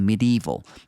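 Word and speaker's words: medieval: 조약들로 된 어떤 둥근 벽이 있는데 like a medeval medal 이렇게 발음해 줘야 돼요.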